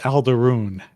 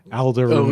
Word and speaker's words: Alderaan: They call it Aldaroon. Aldaroon. Oh, of course they do. Of course they do. They put in a pronunciation guide for it. It's spelled Alderaan. Okay.